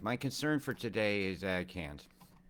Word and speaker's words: Cairns: Right, my concern for today is cans, which I'll call Cairns, because I think AIR should be pronounced as the word air.